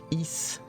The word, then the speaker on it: Ys: I think it's pronounced East. It's just like YS.